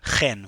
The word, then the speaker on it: Chen: name it's very confusing it's spelled Chen but it's actually pronounced Ken which is you know from Israel we have those biblical sounds in Hebrew but I don't expect